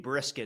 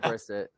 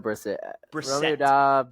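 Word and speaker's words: Brissett: I thought you said I thought you said Jacobe Brisket at one point. No, I said Briset. I said Briset.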